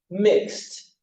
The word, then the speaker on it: mixed: mix, t, mixed, miss, t, missed, like, t, liked, lock, t, locked, bake, t, baked, cook, t, cooked, and walk, t, walked.